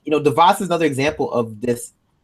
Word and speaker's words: DeVos: Is it DeVos? I always get DeVos. I was saying her name. It's like Voss Water.